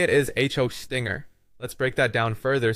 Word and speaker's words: Hostinger: The correct way to say it is Hostinger. Let's break that down further so you can understand the nuances here. It starts with host, pronounced like the word host, as in web host.